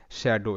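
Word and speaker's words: shadow: যেমন পরবর্তী শব্দ শ্যাডো এখানে ঠিক আছে। এখানে এস এইচ এর উচ্চারণটা তালব্য স এর মত। আর এ এর উচ্চারণটা অ্যা শ্যা।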